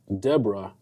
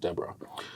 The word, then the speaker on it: Deborah: Peter, is Ruth, Deborah, but it's actually pronounced Deborah.